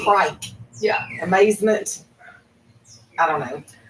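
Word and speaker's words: craic: The crate? I think this is Irish. It is. So my friend Kieran, water? Friend Kieran's going to get real mad that I'm pronouncing this. Is that like the correctly. creek? Like a water? Nope, the crate. Kite. It's C-R-A-I-C. Crike.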